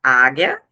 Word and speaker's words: Ajna: E esse que se se escreve Ajna, mas se se pronuncia Águia, é o plexo lunar.